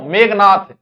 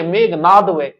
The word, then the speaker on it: मेघनाद: आप गलत लिख दोगे क्यों मेघनाथ मेघनाथ बोले सही मेघनाथ बोले तो लोग मेघनाथ ही लिखेगा जबक व कि मेघनाद तो गलत बोलो तो गलत